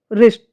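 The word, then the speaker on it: wrist: जब शब्द के शुरुआत में आर से पहले डब्ल्यू आता है तो डब्ल्यू जो है वो हमारा साइलेंट रहता है। एग्जांपल से देखें राइट रॉन्ग रिस्ट नेक्स्ट है हमारा जो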